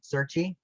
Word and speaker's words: Serchie: very much gab uh my name is certi just keep it plain and simple uh everyone knows